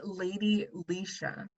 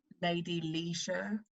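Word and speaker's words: Leshurr: and what's the song so the artist is lady lisha um but it's spelled like lady lacher she's english so it's like lady lisa like loy delicia exactly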